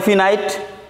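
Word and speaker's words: finite: তো এইটাকে আবার অঞ্চল ভেদে এটার প্রোনাউন্সিয়েশনটা ভিন্ন হয়, ফাইনাইট হয়, নন ফাইনাইট হয়, আবার অনেকে বলে ফিনাইট, নন ফিনাইট।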